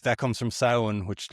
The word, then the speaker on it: Samhain: Like that comes from Samhain which like people sometimes will say Samhain cuz it's kind of spelled s a m h a i n but it's pronounced Samhain.